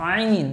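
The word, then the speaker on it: ع: তারপর আরেকটা অক্ষর হচ্ছে আইন যেগুলো একটু কঠিন অক্ষর সেগুলো বলতেছি হালকের মধ্য থেকে একটু গলার চাপের সাথে উচ্চারণ হবে আইন আইন আরেকটা অক্ষর হচ্ছে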